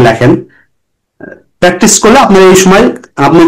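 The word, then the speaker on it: つ: সু, এই সুটা হচ্ছে এর উচ্চারণ হবে টি এস ইউ, সুনামি।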